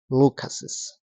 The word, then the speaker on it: Lucas's: Pero eso no implica que no tienes que pronunciar Carlos's. Igual tienes que pronunciar Carlos's, James's, Lucas's.